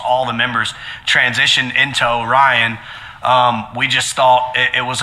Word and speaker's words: Oh, Rhien: time but you know we pronounce it like orion like orion's belt you know right um